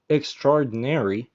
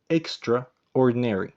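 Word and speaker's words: extraordinary: هو نادر ومميز جدا ونطق كلمه اكسترادينري مش اكسترا اورديناري ما بنقولش اكسترا اوردينري ما بنقولش كل كلمه لوحدها لا دي كلمه واحده على بعضها اكستراري ولو خليتيه يجي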